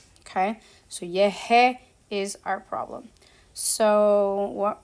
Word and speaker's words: llegué: Okay, so when we have this verb, for example, llegar, we want that g sound because our infinitive and all of our normal stuff have the ga sound, which is this hard g sound.